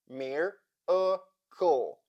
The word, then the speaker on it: miracle: Let's try to break down this word together. Mir-a-kle. We have three syllables, the first of which is stressed and closed.